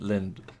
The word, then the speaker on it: Lindt: So today it's a Lindt calendar, so it's very nice chocolate. The 11th. I think you pronounce it Lind. Lindt? No, Lind. Like it's like just a hint of a T at the end.